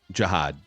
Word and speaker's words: Jihad: 30 years old now it looks like jood by Jihad by the way really I I looked up a pronunciation that was small J and then capital h o d d yeah Jihad oh you're